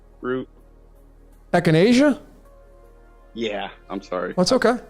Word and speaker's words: echinacea: Enchantia root. Echinacea? Yeah, I'm sorry. That's okay. I've been calling it the wrong name. That's okay. That's not the wrong one. It's just your pronunciation of it.